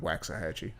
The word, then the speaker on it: Waxahachie: Is that how you pronounce it? Okay, because I've been calling it Waxahachie.